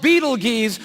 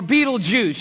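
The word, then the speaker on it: Betelgeuse: it's called Beetle geese or Beetlejuice you can pick your pronunciation I'm obviously going with Beetlejuice and Beetlejuice is incredible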